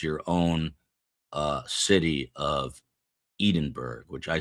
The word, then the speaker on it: Edinburgh: Edinburgh is how it is pronounced in the UK.